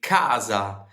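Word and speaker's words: casa: word house or home, we say kaza and we we, you know, we pronounce the the letter C, the letter C, the letter C, Kaza. But Florentines omit the C and they make it a silent C, a H. And so they say haza.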